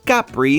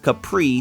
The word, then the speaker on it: Capri: Listen, I'm mature enough to admit when I'm wrong, but the Italian pronunciation is technically Capri, not Capri, so name pronunciations aside, the drink did provide Jason and I something to agree on.